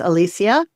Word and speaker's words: Alicia: And it Yeah, it is spelled like Alicia or Alicia, but it's Alicia.